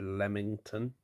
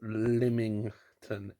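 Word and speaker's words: Lymington: watching that last clip it kind of sounded like I said lemington it's Limington l-y-m-i-n-g-t-o-n I'm surprised I've learned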